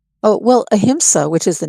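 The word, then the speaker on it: ahimsa: Um how does uh spirituality uh the concept of um uh sorry how to pronounce that word? Uh uh aimsa. Oh, aimsa.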